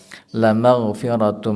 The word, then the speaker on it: la maghfiratum: Ini lamnya dibacanya pendek, Pak. Jangan sampai dibaca panjang.